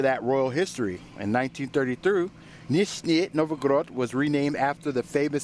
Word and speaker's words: Nizhny Novgorod: Nizhny Novgorod. Okay, so one more attempt. Nizhny Novgorod.